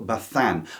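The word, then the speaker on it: Bazán: In 12th place is the Spanish writer Amelia Parardo Bethan. I'm going to say Bethan because I've been told the zed is like a th pronounced in in Spanish, but I might butcher it anyway.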